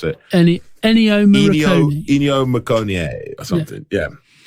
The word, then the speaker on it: Ennio Morricone: I literally Googled how to pronounce it. Ennio Morricone.